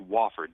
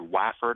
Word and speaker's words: Wofford: that Sports casters are mistakenly doing it's actually pronounced wford w f fo o r d I've heard wafford I've heard woord I've heard wford but it's wford I assure you all right uh we wanted